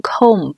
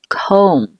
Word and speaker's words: comb: 我们注意尾音的 b 是不发音的，不要读成 comb， b 不发音，读作 comb，梳的意思。